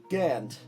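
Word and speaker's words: Jörmungandr: Jormungand is what you say. I say Jormungand, Gund. but I also, when I read it, I see the umlauts above it because I'm German, so Right. I pronounce it weird. Right, Jormungand is how you say it. Yeah. And I say there's an R at the end.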